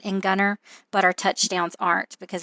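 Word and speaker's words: Gunter: It's called Gunnar, Texas. It's spelled Gu U N T E R, but we leave the T. They say our tea is silent in Gunner, but our touchdowns aren't because if you know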